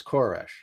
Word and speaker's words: Koresh: King of Persia but the Hebrew pronunciation is koresh and that and this